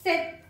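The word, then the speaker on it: sept: Center in this seven don't use this letter P while you pronounce set the P should be dropped okay just silence set the week the head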